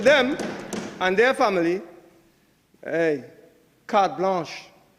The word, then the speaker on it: carte blanche: When it comes to them and their family, hey, carte blanche. Carte blanche. Not like blanchishes. Some people can't spell that. It's carte blanche.